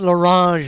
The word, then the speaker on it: Larange: Ben Larange up next. Yes. I get that French pronunciation in there.